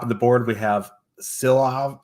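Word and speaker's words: Silovs: Top of the board, we have Silov. How do you pronounce it? Shilovs. Shilovs.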